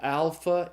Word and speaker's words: alpha: unit the first Greek letter is the letter alpha it's pronounced like in the a sound in the English father so alpha is as in father second letter is the